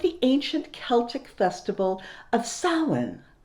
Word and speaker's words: Samhain: which originated with the ancient celtic festival of samhain spelled s-a-m-h-a-i-n but pronounced samhain this is when people would light